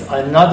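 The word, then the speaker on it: ਅਨਾਦ: go into our lives, we'll stop mispronouncing that one word. It's Anad Surna Vadapakyo, because it's a different word. Anand is a state of bliss.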